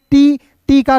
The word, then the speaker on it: talk: तो याद रखिएगा दोस्त जब एल और के एक साथ रहेगा दोस्तों, तो इसमें एल जो है साइलेंट होता है और के का उच्चारण क के रूप में करते हैं। क्लियर है? तो यहाँ देखिए टी का ट हो जाएगा, ए है दोस्तों, तो इसका उच्चारण औ के रूप में के का हो जाएगा दोस्तों क, तो इसे पढ़ेंगे टॉक।